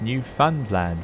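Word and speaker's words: Newfoundland: i'm dimitri it is pronounced new fund land with emphasis on the new new friends ends am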